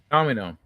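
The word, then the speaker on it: dominó: Domino. Domino. Oh, domino. The accent is on the second O.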